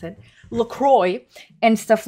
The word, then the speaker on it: LaCroix: It triggers me so much that that's how they officially pronounce it. LaCroix and stuff like Liquid Death.